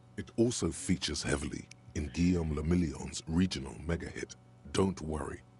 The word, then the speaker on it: Guillaume le Million: Guillaume le Million. Sure it did. If it doesn't rhyme, you're not pronouncing it right.